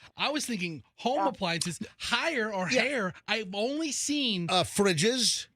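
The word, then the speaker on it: Haier: I pronounce it higher.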